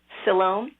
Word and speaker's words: Siloam: So when I read about, and hopefully this is the right way to pronounce it, Siloam.